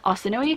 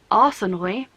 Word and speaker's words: Arsinoe: author pronounces it Arsino, which is like more of like a French pronunciation rather than like the original like Mediterranean Greek Arsinoe. The narrator in this pronounces it Arsinoe, which as a Brit sounds like arse annoy.